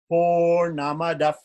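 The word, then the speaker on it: पूर्णमदः: before Purnamidam, becomes translated, it sounds like fa, but very short fa. So Purnamadaf, Purnamidam, Purnamadaf, Purnamidam.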